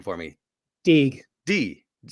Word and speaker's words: Deege: Deege. Deege. Yes, Deege with a hard G.